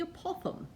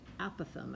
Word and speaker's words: apothem: how i say it it's the apothem and you have to say it with a british accent but it's really i think if there's an it's actually not how you say it apothem i think is how it's really said but that's just so american sounding so the apothem is